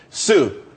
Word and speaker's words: tsū: Sue, TSU. It's pronounced Sue though.